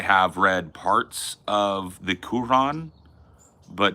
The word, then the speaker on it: Quran: So I've very like the Quran. Yeah, it's not Quran. That's not how they say it.